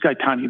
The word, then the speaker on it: Gaetani: Look, as I understand the issue here, Ms. Gaetani, that's the correct pronunciation, is it not?